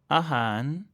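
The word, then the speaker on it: อาหาร: Et comme pour le L, faites attention, en fin de mot, il se prononce N. Par exemple, pour la nourriture, ahan.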